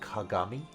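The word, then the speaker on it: 鏡: When on its own, it's pronounced kagami and means mirror.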